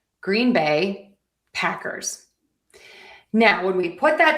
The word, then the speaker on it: Green Bay Packers: Moving on to Green Bay. We have a syllable pattern that is going to be stress unstressed. Stress unstress. So, Green Bay Packers. Green Bay Packers. Green Bay Packers.